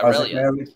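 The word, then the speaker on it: Relyea: Father Isaac – I might be mispronouncing his last name. Is it Aureli? Relly? Relia. It's called the – yeah, Relia.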